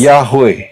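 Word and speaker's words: יהוה: you read it as Yote Wow He. Dan pengucapannya adalah And the pronunciation is Yahweh.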